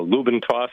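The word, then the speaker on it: Lube N Toss: people were pronouncing it, they didn't enunciate the letter D, so it sounded like Lube and Toss. So so I decided to go with the Lube and Toss. So Lube and Toss is how you pronounce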